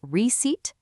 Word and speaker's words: receipt: So, remember that the P in receipt and the B in debt are completely invisible when you speak. It is just receipt and debt.